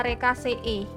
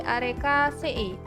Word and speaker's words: Arecaceae: Nah, di sini kan kita diketahui bahwa ada famili Arecaceae. Nah, EAE ini bacanya EE ya. Soalnya ini kan double.